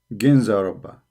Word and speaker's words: Ginza Rabba: So here they are pronouncing it Kanza Rabba. You see it? Kanza Rabba. Here in Wikipedia they pronounce it as G. Ginza Rabba.